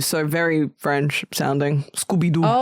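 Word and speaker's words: Scoubidou: Scooby-Doo.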